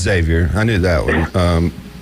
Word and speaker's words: Xavier: right yes sir camell one starts with an X but you pronounce it with a Z yeah it's Xavier I knew that one